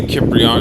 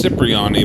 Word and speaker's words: Cipriani: i remember all this tony kipriyan it's supposed to be pronounced as cipriani but whatever mama's restaurant